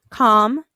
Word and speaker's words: calm: because it is silent our last column calm salmon and poem in these words you hear mmm at the end of words but you don't hear the L so you're going to